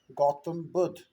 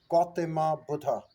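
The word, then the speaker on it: गौतम बुद्ध: Well, our name is uh, Gautam Buddh, but what they do, they provide an a as a suffix. They provide it as Gautama Buddha.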